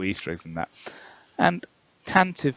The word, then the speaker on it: Tantive: And he goes, that's right, the official pronunciation of it is Tantive.